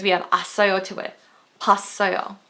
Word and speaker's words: 봤어요: 봤어요, not 보았어요.